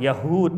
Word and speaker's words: Yahud: Rumah makan Yahud, bukan Yahudi, Yahud.